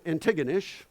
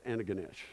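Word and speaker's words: Antigonish: Anish which for years I called antiggonish till I went there because people in Halifax will say antiggonish you go out there say Roger it's Anaganish bedcave now the only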